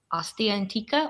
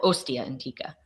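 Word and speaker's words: Ostia Antica: mik you have to help me with the pronunciation of this because I always get wrong is it AA antika or osta antika OST antika the first one perfect okay thank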